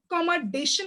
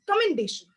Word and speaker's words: commendation: only two first someone said pronouns which is pronounced second someone said commandation which is commendation coming to the sentences which could have been